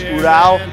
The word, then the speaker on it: Ural: Hey guys, gals, here at Spinwurkz, 1997 Ural sidecar. What a cool piece. Got that military feel. This is Russian made Ural. I've had the Russians correct me, it's Ural. So however you want to pronounce it, this is a Russian made sidecar.